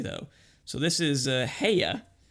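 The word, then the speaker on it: Haigha: so this is uh heya spelled in the book h-a-i-g-h-a and pronounced as rhyming with mayor so i kind of rendered it hey yeah um but this is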